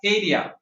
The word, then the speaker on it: Hadia: I know her as Hadia. Okay, So okay, later they started pronouncing her name as Hadia. okay. So That that's was the original pronunciation of yeah, my name, Hadia. Oh, so Right? Hadia was the original, yeah,